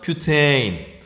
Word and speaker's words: 뷰테인: 옛날에는 어떻게 읽었냐면 얘를 부탄이라고 읽었어요. 많이 들었죠? 바로 뭐예요? 부탄가스. 그 부탄이에요. 요즘은 뷰테인이라고 읽어요. 요즘 사람은 뷰테인. 우리 앞으로 뷰테인이라고 읽기로 해요.